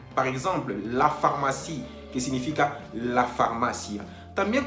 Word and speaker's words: pharmacie: También comentamos que cuando vemos juntos o juntas las dos letras, la P y la H, obtenemos el sonido F. Por ejemplo, la pharmacie, que significa la farmacia.